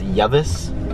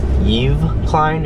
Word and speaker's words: Yves Klein: his name was was llaves but after doing some research and finding out he was a French artist his name is actually pronounced Yves Klein or Yves client oh like Christmas Eve anyways Yves Klein was